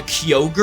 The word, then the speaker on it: Kyogre: name is Kyogre but again it would be pronounced differently this one would be called Kyogre because it's getting its name from Kio the